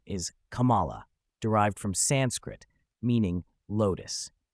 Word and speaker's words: Kamala: pronounced it in various ways, including Kamala and Kamela. Dhillon explains that the correct pronunciation is Kamala, derived from Sanskrit, meaning lotus.